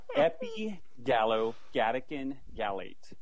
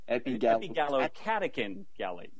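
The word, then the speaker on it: epigallocatechin gallate: Epigallocatechin-gallate. Wrong. Epigallocatechin-gallate.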